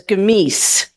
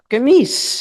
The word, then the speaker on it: Gemüse: his hand and he said, my Oma says Gemies. Well, that's how you say it in Koblenzer Deutsch. Gemies.